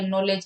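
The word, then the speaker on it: knowledge: जैसे नॉलेज के अंदर है के जो है साइलेंट रहता है, तो अपनी हिंदी के अंदर ऐसा नहीं है।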